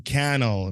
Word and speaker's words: Cannell: you were talking to Sean Cannell rhymes with YouTube channel because he always says